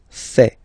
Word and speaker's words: fait: Il, masculin, and then elle, féminin, fait. Final T not pronounced.